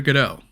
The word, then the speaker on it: Godot: my project over to Godot Oh, yeah, I know a lot of people pronounce it as GO-DOT but I'm going to go with GUH-DOH because it's what I